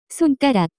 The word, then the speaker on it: 손가락: The pronunciation of this word is closer to 손가락.